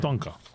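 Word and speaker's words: Danke: you in German Duna dunan dunan yeah dunan Dunka yeah right d Shin okay so um now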